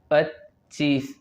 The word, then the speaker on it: پچیس: پچیس پچیس، مجموعة پچیس، چے مشدد هنا پچیس، ينطق مرتين لأنه مشدد پچیس.